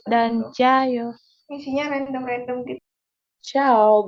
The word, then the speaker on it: ciao: Ciao, bukan cayo ya, itu ciao. Korea tuh cayo.